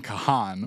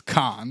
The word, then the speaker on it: Kahan: apologize it's pronounced McGee you keep saying Kahan we know for weeks now it's Khan it's my new Billy